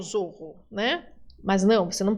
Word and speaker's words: zorro: Na América nós pronunciamos como S, tá?